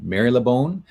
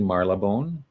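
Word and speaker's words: Marylebone: going to pronounce it Mary labone but um found a YouTuber that said no it's actually Mar labone is how you would pronounce it in England uh so I corrected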